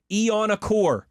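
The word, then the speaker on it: Iheanachor: and says, "Love Yins, but here's how it's pronounced. Max Ianachor is how he pronounces his last name." Never heard it pronounced that. Ooh. I've always heard shore at the end. Ianachor.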